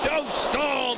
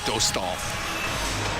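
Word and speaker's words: Dostál: And they've changed the pronunciation, is that right? Well, they're going with the more Americanized version. I know the Anaheim broadcasters go with Dostal. Lucas. Right. Yeah. As opposed to Lukáš Dostal.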